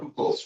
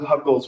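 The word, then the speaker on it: Hückel: It's called Kuckel's rule.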